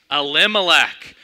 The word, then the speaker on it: Elimelech: How do you pronounce it? No, it's Elimelech.